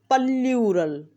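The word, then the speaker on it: plural: हम एक word pronounce करते हैं प्लूरल। इसकी असल प्रोनाउंसिएशन है पल्यूरल, पर हम क्या करते हैं, हमें जो आएगा वो कर देंगे।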